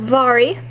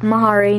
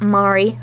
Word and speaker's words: Vari: Yep, Vari. Not Mhairi, not Mari. Vari. It actually could be pronounced Mari too, but I pronounced it Vari, so I don't really care if you pronounce it Mari or Vari. It's just how I pronounce it.